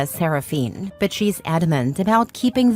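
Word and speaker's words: Seraphyne: Clare insists it's pronounced Malaya Saraphene, but she's adamant about keeping the creative spelling because normal names are boring and my daughter deserves to stand out.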